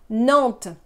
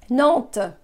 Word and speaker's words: Nantes: Nantes. Nantes. Again, the S is not pronounced. It's not there. Pretend it's not there. Nantes. Nantes.